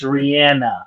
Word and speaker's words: Rihanna: yes you guys okay it's Rihanna it's really as a West Indian it's Rihanna oh yeah I thought it was Rihanna the whole time it's definitely no sir it's Rihanna she pronounces a Rihanna it's actually it's Rihanna yeah all right um